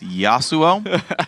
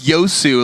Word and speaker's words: Yasuo: he doesn't know very well those how to pronounce the name yasuo it's yasuo crawley otherwise though i gotta say it's fun guy one of my favorite interviews yes suo no no and it became like yosu like him and robert were like trolling around